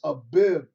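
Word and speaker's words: אביב: April and and uh in the Hebrew and the and the Lashawan Kadash or Hebrew language is known as a bib. A bib. Okay, look it up real quick. A bib. All right, that's how you say it.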